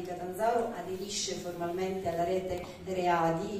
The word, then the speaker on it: RE.A.DY: aderisce formalmente alla rete readi io scandisco sempre l'acronimo proprio anche facendo ascoltare la a Quindi al di là della pronuncia inglese perché è l'acronimo punto